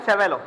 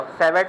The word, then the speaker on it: Savart: Next topic है बच्चों हमारा बायो एंड सेवेलो। क्या है? बायो एंड सेवेलॉ। इसमें टी साइलेंट है। मैं बायोट नहीं कह रहा। सेवेट नहीं कह रहा। बायो एंड सेवे लॉ। ठीक है? टी साइलेंट है दोनों में।